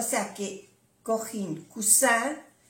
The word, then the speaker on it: coussin: No se oye mucho la diferencia con la S, pero es importante pronunciar bien las dos S. O cuando hay una S se pronuncia como una Z suave.